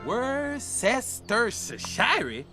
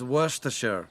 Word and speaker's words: Worcestershire: Worcestershire. Pourquoi pas? Mais la bonne prononciation, c'est... Worcestershire? Now that sounds fancy. It's Worcestershire.